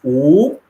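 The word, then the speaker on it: 五: minutes right in chinese the number five is pronounce ooh and i would put my hand up and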